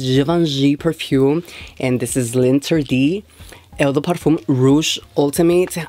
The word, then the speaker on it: L'Interdit: I believe this is pronounced Linterdi Eau de Parfum Rouge Ultime.